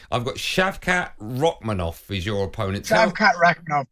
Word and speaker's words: Shavkat Rakhmonov: you are fighting a hope I'm going to pronounce his name correctly I've got shavkat ranov is your opponent shavat roov perfect pronunciation you